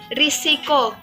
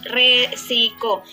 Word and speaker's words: risiko: Contohnya, risiko. Risiko itu kata yang benar, sedangkan kita sering menggunakan kata resiko. Sementara yang benarnya yaitu risiko.